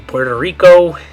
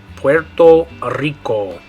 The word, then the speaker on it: Puerto Rico: Okay, in English we'd say Puerto Rico. But in Spanish you're going to say Puerto Rico. Puerto Rico. So in English, Puerto Rico. In Spanish, Puerto Rico.